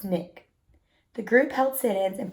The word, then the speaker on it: SNCC: Student Nonviolent Coordinating Committee or SNCC pronounced Nick the group help sit-ins